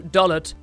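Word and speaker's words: Dollet: Dolet or Dole. Some creative liberty was taken here when localizing because the Japanese just reads Doru, which could be either Dol or Dor. Neither of which sound great as a town name, so they added an ET on the end, and so Dolet would be the most correct.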